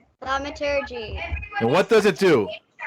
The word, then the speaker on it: thaumaturgy: I think maybe, well, Thaumaturgy. that's it. Wellbricks knows how to say it perfectly. Let's hear it again. Thaumaturgy.